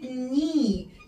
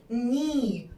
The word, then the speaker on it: knee: ننطقش الكي زي كلمة knee يعني ركبة ني ركبة ني الكي is silent ركبة ني الركبة اللي بتبقى في رجلينا ركبة ني ركبة اسمها ني.